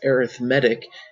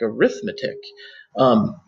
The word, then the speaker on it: arithmetic: I know you might be thinking, why he's pronounced as arithmetic, it looks like arithmetic. They are spelled the same, they are different words. Arithmetic would be the noun, arithmetic would be an adjective that means arithmetic-like.